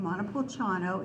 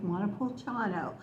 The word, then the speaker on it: Montepulciano: that word in Italian only five syllables don't make the mistake of trying to draw it out too long the letters c i